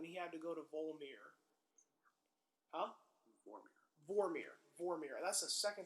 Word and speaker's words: Vormir: what happened when he had to go to Vormir. Huh? Vormir. That's the second time I've mispronounced that in a podcast. Sorry, guys. Vormir.